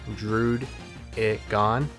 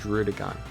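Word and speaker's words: Druddigon: all right and listen i know it's pronounced drewed it gone my brain is just gonna naturally roll off the tongue with rudigon deal with it so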